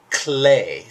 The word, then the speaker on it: clé: Hey, by the way, the term clef, you guys, is descended to us from the French clé, spelled the same way. Clé. In French, that means key, like you use a clay to open the door.